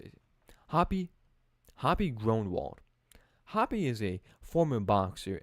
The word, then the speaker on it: Groenewald: Hoppy Groenewald.